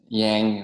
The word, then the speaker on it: Giang: prononciation vietnamienne du Nord, c'est Zhang. Et le Ouais, c'est ça, exactement. Et Yang. sinon, Yang, voilà, Yang.